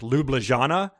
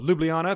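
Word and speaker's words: Ljubljana: Slovenia I think is it's written like Lublin Shana and he was like he's like he oh lewb Liana pronounces it you know and he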